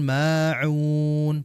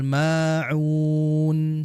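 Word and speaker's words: ماعون: Ini terkadang ada orang yang bacanya seakan-akan mad wajib ya. Ee seakan-akan maun jangan dibaca panjang. Itu bukan hamzah itu ain. Sehingga mimnya dibaca dua harakat saja. Waamnaunal ma'un. Seperti itu. Dan hati-hati di ainnya jangan merubah menjadi hamzah. Jangan. Waamnaunal maun. Bukan maun. Iya. Beda ya. maun dengan ma'un itu berbeda.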